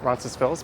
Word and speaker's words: Roncesvalles: i do call it rancid spills but some locals here don't pronounce the s on that and a lot of